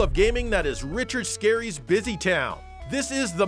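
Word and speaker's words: Scarry: if it's not true richard scary isn't actually very scary and yes that's how his name is pronounced instead he was the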